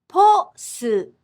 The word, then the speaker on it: posuto: For example, the English word post becomes a 3-syllable word in Japanese. Posuto. Posto.